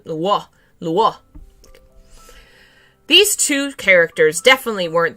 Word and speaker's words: Luo: It's more of a W sound in the Luo.